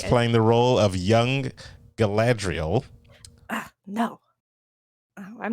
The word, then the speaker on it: Galadriel: guys i was playing the role of young galadriel ah no i'm not about this gala you